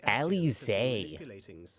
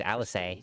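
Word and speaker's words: Alisaie: It should come as no surprise, but Alize and I have uncovered evidence that the Alize. I've been pronouncing that wrong. I thought it was Alice.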